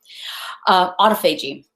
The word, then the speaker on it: autophagy: Autophagy, or autophagy. Thank you. I was mispronouncing it apparently.